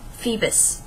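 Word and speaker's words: Phoebus: Soldier dude Nam Fe Feebas febus is how you pronounce it uh Feebas and if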